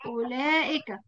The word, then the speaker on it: أولئك: أولئك نطقناها أولئك. إيه الحرف الذي نطق ولم يكتب؟ حرف الإيه؟ حرف بعد الألف.